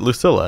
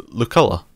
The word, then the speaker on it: Luculla: I also called it Lucilla, and it's Luculla.